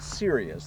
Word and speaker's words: Sirius: I'm standing beside the TL-Ultralight Sirius, this is pronounced. And it may be serious in name, but it's a really fun little airplane.